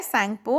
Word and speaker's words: सांगपो: सांगपो। T silent होता है तो उसे बोला जाता है सांगपो।